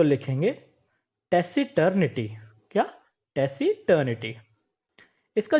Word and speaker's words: taciturn: इस वर्ड की स्पेलिंग में सी होने की वजह से आप इसे टैकी न पुकारें। इसका जो सही स्पेलिंग है वो, उसमें सी तो आता है, लेकिन जब हम इसे प्रोनाउंस करेंगे तो एस के रूप में करेंगे, यानी टैसी टर्न।